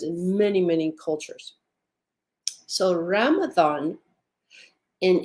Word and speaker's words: Ramathon: So Ramathon, and if you'll hear how I'm saying it, it sounds like it has a TH in it.